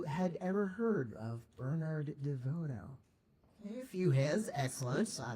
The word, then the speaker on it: DeVoto: I gave this talk a few previous times, and I would start it with a pronunciation note saying that the main male character's name is not pronounced Bernard DeVoto, but Bernard DeVoto.